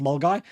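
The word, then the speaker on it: Milngavie: or it's pronounced it's spelled milavi but it's pronounced mgy so I was going from mgy walking to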